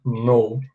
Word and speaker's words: know: O K não é pronunciado, tá? A gente fala know.